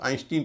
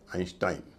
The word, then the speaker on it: Einstein: आइंस्टाइन को कई लोग आइंस्टीन कहते हैं। इनका उच्चारण है आइंस्टाइन। यानी शुरुआत में इआई है। बीच में भी आई है। दोनों का उच्चारण आई ही होगा।